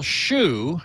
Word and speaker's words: Hsu: is concerned um well Shu S A Hsu it's actually pronounced some different way in Chinese sh I think or